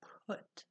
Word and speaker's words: put: It's spelled just like but with a different sound, put.